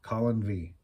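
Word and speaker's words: Calon Ddu: hope you like it cologne do V I don't know okay pronounced more or less as Colin V but it's dedu by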